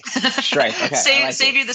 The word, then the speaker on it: Striph: I thought you were going to pronounce your last name because I didn't want to butcher it. So, it's Striph. I'll say that for you. It's Striph. Okay. Striph.